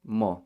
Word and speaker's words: mo: would be no but in the west it's pronounced mo with an m a big caveat here